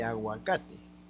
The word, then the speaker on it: aguacate: Ahora, huaico y aguacate. Ambos son americanismos. Pero huaico, la penúltima sílaba pronunciada. Aguacate, penúltima sílaba pronunciada.